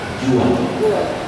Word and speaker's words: Juan: bahasa Spanyol Yan itu tulisnya Jan Juan Tapi bacanya jua J dibaca ha ha Iya Jadi kalau